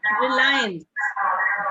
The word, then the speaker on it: Reliance: ਹਾਂਜੀ Ma'am, what is the pronunciation of RELIANCE? ਰਿਲਾਇੰਸ, ਰਿਲਾਇੰਸ।